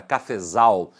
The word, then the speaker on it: cafezal: Quando eu falo a palavra cafezal, você observa que a sílaba tônica está na última, zal.